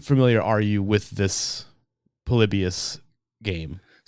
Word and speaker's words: Polybius: It's it's a Palibius is how it's pronounced.